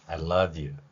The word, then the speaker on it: I love you: 하는 발음은 실제 발음은 이렇게 표현할 수 있죠 I love you 이렇게 발음할 수 있다는 것입니다 이유와 I love you이